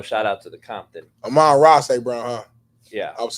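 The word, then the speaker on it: Amon-Ra St. Brown: list um so it is what it is Aman St Brown no shout out to the Compton Aman ra St Brown huh yeah I was saying it wrong Legend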